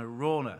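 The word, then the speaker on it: Araunah: belongs to this guy a rauna the jebusite and Rachel and I discussed how to pronounce that name our Runa around her we settled on a rauna this nice name isn't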